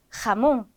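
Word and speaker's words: jamón: 만날 때 항상 히의 소리가납니다 그래서 하헤히호후 이렇게 발음이 되는데요 단어 한번 볼게요 스페인의 유명한 요리입니다 돼지 뒷다리 염장한 요리죠 하몽 가몽이라고 해 주시면 되고 맨 마지막에 올 때도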